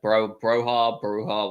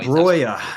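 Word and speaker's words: Broja: Broha, whatever his name is now. Broya, if you want to use that's the one. Albanian. Yes, I knew his pronunciation was asked to be changed.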